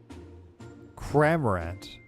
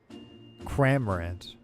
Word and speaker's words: Cramorant: But I feel like I'm not saying it right. Cramorant is probably what that's supposed to be. Cramorant.